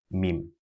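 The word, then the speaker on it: م: Then we have this called mim, using we pronounce mim by closing the two lips together with a gunnar sound. A gunnar sound is when we try to make a sound come out through the nasal passage now.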